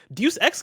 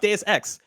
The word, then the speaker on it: Deus Ex: single time i'm like oh this deuce x game looks really cool uh but then i started talking to people about it and i was like oh it's pronounced deus ex and there was one